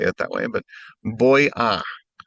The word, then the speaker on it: voy: it that way, but boy. The v has a hard b in many or most Latin American countries.